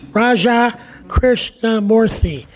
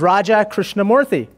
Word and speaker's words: Raja Krishnamoorthi: that kind introduction Jay I should say that you pronounce my name just perfectly the other day I introduced myself on the south side of Chicago I said hi my name is Raja Krishnamoorthy and the person said Roger Christiane Murphy very nice